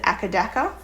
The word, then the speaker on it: AC/DC: So for example, very famous band AC/DC, a lot of people would say it like that. We pronounce it akadaka.